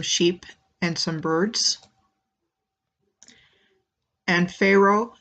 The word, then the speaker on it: Faroe: and some birds and Pharaoh spelled FA ro e sounds phonetically like what word the alignment next comes